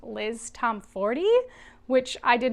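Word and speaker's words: Liz Tomforde: I'm really enjoying her writing, and I think I've recently learned that her name's actually pronounced Liz Tom Ford, which I did not know, so I will begin to pronounce it that way going forward.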